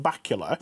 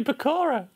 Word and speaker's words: Bakula: The way you say Bakura. It's Bakula. Scott Bakula. How do you say it? Bakula. No, it's not. It's not from Transylvania. That's always how it's been said.